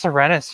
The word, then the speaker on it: Serenes: It's pronounced Serenus, you fucks.